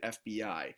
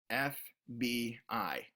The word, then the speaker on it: FBI: What that does is that communicates to the anchor that those letters are meant to be read individually. FBI, not FB.